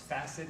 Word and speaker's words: facet: back of the joints called the cassette joints facet it's pronounced beset FAC et Fassett joints the hole